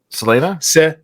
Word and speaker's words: Selena: that Elena Selena Selena Selena all right like Elena but Selena sure okay so Selena